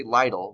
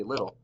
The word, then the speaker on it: little: We don't say lidle, we say little.